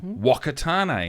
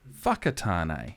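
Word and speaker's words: Whakatāne: certain names so taupo instead of Topo um wakatane instead of whakatane you know the names were there but they were still pronounced incorrectly nowadays I think we're a lot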